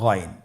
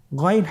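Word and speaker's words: غين: উচ্চারণ করা যাবে না যেহেতু হরফটি মোটা এজন্য মোটা করে উচ্চারণ করতে হবে মাশাল্লাহ আলহামদুলিল্লাহ আমরা আজকের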